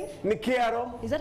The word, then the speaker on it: Nakato: Nakato. Is that how you pronounce it? It's Nakato.